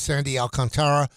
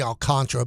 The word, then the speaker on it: Alcantara: I'm saying that if you call Miami and say, we want Sandy Alcantara, and by the way, it's spelled Tara, and everybody says Sandy Alcantara. It's really Alcantara, but I'm not blaming people.